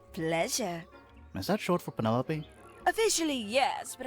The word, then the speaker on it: Penelope: is that short for Penelope officially yes but I never can be bothered with all four syllables of it it's Penelope sounds a little ostentatious